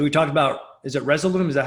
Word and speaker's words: Resolume: So we talked about, is it Resolume?